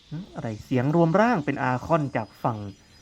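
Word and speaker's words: Archon: อคอน นะ ไม่ ใช่ ชอน นะ ฮะ อื คำ นี้ ผม แน่ ใจ สุด ๆ เลย นะ ว่า อ่าน ว่า อคอน อ่าน ว่า arc เป็น เสียง คอ ควาย นะ อคอน นะ ฮะ แต่ ตัว ตัว Arcade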